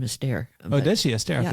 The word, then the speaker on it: Esther: Yeah, she pronounces her first name Esther.